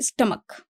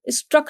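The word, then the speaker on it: stomach: जठर या अमाशय, आमाशय, इसको बोला जाता है स्टमक। ओके, और ये अगर देखेंगे तो इसका प्रोनाउंसिएशन गलत लिखा हुआ है, स्ट्रक नहीं है, दिस इज स्टमक।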